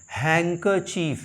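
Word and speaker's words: handkerchief: भी my real learner हैकर चीफ यहां पे भी डी का साउंड नहीं होता यहां पे भी डी का साउंड नहीं होता इसे हम पढ़ते हैं हैकर चफ यानी कि रुमाल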